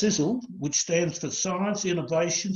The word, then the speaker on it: Sisel: It's pronounced Sisel, which stands for Science, Innovation, Success, Energy and Longevity.